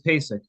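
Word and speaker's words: Pacek: your last name my last name is pesic you spell that P A CE K may we swear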